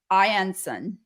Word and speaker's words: I'Anson: And I see a future collab with, I'm manifesting this for you, Vera Ring and and Joseph Ianson.